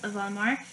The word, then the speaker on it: Voldemort: fan, so I picked Voldemort. And that's how you pronounce his name, by the way. It's not Voldemort, it's Voldemort.